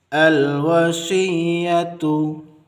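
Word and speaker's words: الْوَصِيَّةُ: Al-wasiyatu, al-wasiyatu. Kita baca a atau kita beri harakat fathah pada hamzah wasal karena hamzah wasal satu paket dengan lam. Kita ulangi. Khairanil wasiyah. Khairanil wasiyah. Al-wasiyatu.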